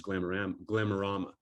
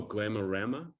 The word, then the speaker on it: Glamorama: of all time is Glamorama. And he goes, oh, Glamorama? And I was like, oh, I've been mispronouncing my favorite book my entire life.